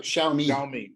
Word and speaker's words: Xiaomi: How do you pronounce it? Xiaomi.